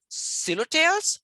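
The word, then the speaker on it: Psilotales: And so these groups, collectively whisk ferns are called silotales, right? With this, the P is silent, so it is silotum, right?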